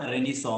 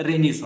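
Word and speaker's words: Renaissance: So world हिस्ट्रीमध्ये एक period आहे ज्याला मराठीमध्ये प्रबोधन पर्व म्हणतात, इंग्रजीमध्ये त्याला रेनिसॉ म्हणतात. ओके, त्याचं स्पेलिंग रिनायसन्स अशा प्रकारचा आहे, त्याचा उच्चार रेनिसॉ आहे, ज्याला मराठीमध्ये आपण समाज प्रबोधन किंवा प्रबोधन पर्व असं म्हटलं जातं.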